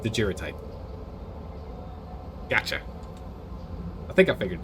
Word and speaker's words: daguerreotype: Hard G. Daguerreotype? It's like didgeridoos, but different. Daguerreotype.